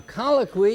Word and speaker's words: colloquy: A colloquy is a conversation. Look at all these words we're learning. You drop the Y and IES. The U is a vowel, but it's pronounced like a W.